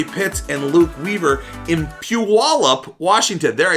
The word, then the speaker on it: Puyallup: well is Rory Pitts and Luke Weaver in Puyallup, Washington. There, I said it right, Rory. I'm getting good at this. In Puyallup, Washington, they're doing a weekly show inside of